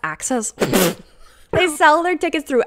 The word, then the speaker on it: AXS: some of the best access oh is it pronounced access they sell their tickets